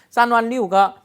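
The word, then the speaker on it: 三万六: 쌍완리우가 36,000이죠. 이걸 쌍완리우라고 해요. 쌍완리우, 스완리우 이렇게. 쌍완리우 첸 이렇게 안 읽고요. 쌍완리우라고 읽으면 36,000이 되겠네요.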